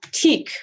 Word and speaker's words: Teeq: it yeah uh it's going to be called teak which is spelled t-e-e-q sorry perfect dive into the details